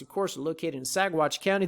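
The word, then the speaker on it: Saguache: course are located in sagwatch county the g is silent guys like lasagna up here in sagwatch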